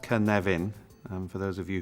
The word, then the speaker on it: Cynefin: this is the Canadian framework pronounced kan leven and for those of you who don't speak